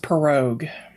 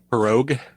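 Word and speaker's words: pirogue: the show notes so there you go it's pronounced perogue perogue yes you know i pronounced it four different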